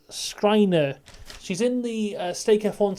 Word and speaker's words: Schreiner: So it's Schreider. I wrote it down how you say it. Schreiner.